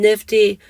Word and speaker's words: NFTE: And the source for that comes from Nifty, and I'll link that in the show notes. So they pronounce themselves Nifty and they stand for the acronym NFTE, so Network for Teaching Entrepreneurship.